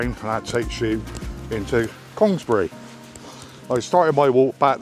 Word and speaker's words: Congresbury: People say Congresbury, I just say Congresbury. It's easier for me, being a Somerset lad.